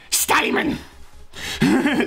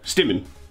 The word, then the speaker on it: Stimmen: Steinman! Which is tuning. Stimmen. You don't Stimmen. Say I, you just say like E. Oh, Stimmen. Yes.